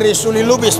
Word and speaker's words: Risuli Lubis: Ini Risuli Lubis bacanya.